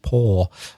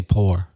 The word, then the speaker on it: pour: pour liquid into something I was trying to pronounce it like as close as I could to Oxford English which of course is without any final are signed poor but if you come from Belfast you say poor and if you come from America you say something like poor yeah very different and